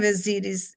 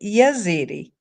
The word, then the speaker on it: Ezidi: Yazidi is spelled with a Y in front of it, even though the real pronunciation is Ezidi, Ezidi, Ezidi. But international journalists have plugged a Y in the front of it and they pronounce it Yazidi. That's not how it's really pronounced, but because I want